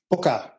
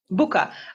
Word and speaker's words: Bua: Bua. Bua like Italian pronunciation right.